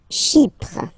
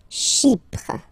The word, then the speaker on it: Chypre: Chypre. Chypre. So remember, we've got this Y letter here, but then phonetically when you pronounce it, it's like I, okay?